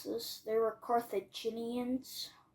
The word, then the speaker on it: Carthaginians: were I don't think you know how to pronounce this they were carthaginians carthaginians carthaginians car Cara car car car car add